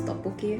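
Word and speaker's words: 떡볶이: Ever since I saw that video of that lovely couple trying to pronounce tteokbokki, Tteokbokki.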